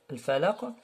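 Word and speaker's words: الفلق: Et le qaf, comme de al-falaq, alors on fait une sorte de vibration et ce qu'on appelle al-qalqala.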